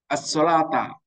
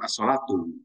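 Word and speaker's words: الصلاةَ: As-sholata bacanya harus dinasobkan atau fathah. Sholat jamiah bukan as-sholatu.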